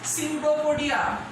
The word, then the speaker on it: Pseudopodia: Answer is Pseudopodia. Look at the spelling of Pseudopodia. This is beginning by P, which is silent, and Pseudopodia is the correct pronunciation.